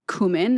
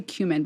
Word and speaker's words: cumin: It's got notes of clove, cumin. Is that how you say it? I would say cumin, but I think it's cumin, right?